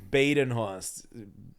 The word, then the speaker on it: Badenhorst: you online in Bost yeah my name is pronounced Bost in benen host uh that's Instagram ianb comedy and then on